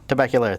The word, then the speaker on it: Tabacalera: Tabacalera? Tabacalera, thank you.